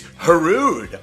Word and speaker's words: Hrudey: Silent H? Yeah, and it's rude to mispronounce a guest's name. I see what you did there. It's Hrudey.